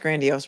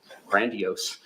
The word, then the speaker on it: grandiose: a look he said grandos or he said pronounced grandios wrong and she just looked at him funny because now she's gonna get him back watch 760 one of the criteria is has a grand grand grandiose sense of self-importance pen for example exaggerates achievements